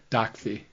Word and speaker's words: Docfee: Docfee. Docfee. Why is it Docfee? So it's spelled DOCFEE, because on every transaction in the car business, there's a dock fee.